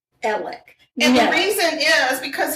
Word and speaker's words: Alex: His first name is spelled A-L-E-X, Alex, but he goes by, are you ready for this? Alec.